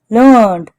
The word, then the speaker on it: learned: Learned, well educated, usually written as learned and pronounced with two syllables. Learned, here it pronounced as one syllable to reflect an ordinary person's way of speaking.